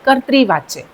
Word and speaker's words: कर्तृवाच्य: कर्तृवाच्य। इसका उच्चारण करेंगे हम। आधा र ऊपर आएगा और नीचे ऋ है इसलिए हम इसको बोलेंगे कर्तृवाच्य। दूसरा है कर्मवाच्य और तीसरा है भाववाच्य।